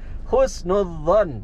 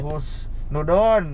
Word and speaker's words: husnudzon: Ya, pengucapan yang benar husnudzon. Husnudzon. Oh. Kan so husnuzon. Ada husnudon. Husnudzon harusnya husnudzon. Husnuzon. Oh, ada D dan Z-nya gitu.